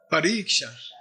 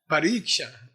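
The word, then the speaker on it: parīkṣā: Pariksha. Pariksha. Okay, looking all around the question. Pari, like periscope.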